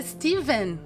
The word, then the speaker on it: Stephen: eu descobri na verdade que se escreve stepen né com ph mas se fala Steven com como se fosse com v então the outsiders Stephen